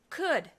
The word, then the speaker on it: could: Could. Where does the L come from?